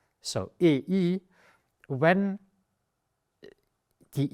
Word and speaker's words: Ei: It's not das A, it's das Ei.